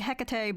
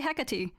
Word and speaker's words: Hecate: I also did not know that was how you pronounce her name. I always thought it was like Hecate, but like, you know, I went to I